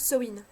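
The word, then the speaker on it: Samhain: plus proche de sowin alors oui je prononce ce win je sais que beaucoup de prononces sa main non je prononce ce win tout simplement parce que je le prononce à l'irlandaise parce que c'est comme ça que je l'ai appris tout simplement donc ne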